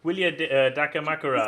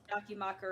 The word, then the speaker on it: Dakimakura: Oh, did I pronounce it right? Probably not. Dakimakura.